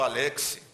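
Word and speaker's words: Alexy: Aliás, a pronúncia certa é Alexis, porque ele era alemão. A tendência nossa é falar Alexis, mas está errado. Alexis é uma pronúncia francesa, mas a pronúncia verdadeira é Alexis.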